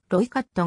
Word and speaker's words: Rooikat: いう意味であるなおアフリカーンス語の発音をカタカナに点火した表記としてはロイカットがより近いためにほんでは